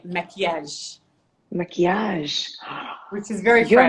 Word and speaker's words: maquillage: Oh, Say maquillage, maquillage. which is very Your French, but it's maquillage is maquillage. beautiful. I know, right? So now you know a few Your Arabic words, which maquillage is awesome.